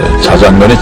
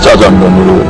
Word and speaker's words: 짜장면: 자장면이 짜장면으로 이렇게 발음을 해도 된다고 그랬다면서요.